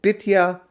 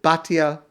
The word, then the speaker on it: Batya: Some pronounce it Bitya, most pronounce it Batya.